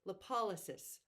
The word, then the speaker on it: lipolysis: sec it also increases lipolysis I went and looked up the pronunciation of that lip o l Ys i s lipolysis so you're truly breaking